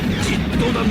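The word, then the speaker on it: ジット団: Jittodan no renchū nado osoruru ni karazu da. Jittodan ni ousen suru zo. Ang pronunciation, jit. Mokshou kakurin. Hindi git. Pasaway, jit.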